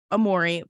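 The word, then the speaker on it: Aomori: Trains were suspended in Hokkaido and Amori. Please tell me did I pronounce that right?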